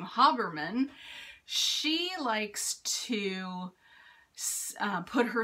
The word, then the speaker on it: Habermann: I learned how to pronounce her last name, Habermann.